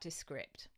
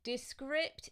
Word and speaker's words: Descript: how to spell it so it's like describe but instead of b e at the end it's p for Papa and T for tango I'll just move my